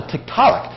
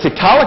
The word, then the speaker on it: Tiktaalik: I said, a tiktaalik? What's that? He says, a large freshwater fish. And I went. That's in Netflix. So that name stuck. It's actually Tiktaalik, but the Tiktaalik pronunciation stuck.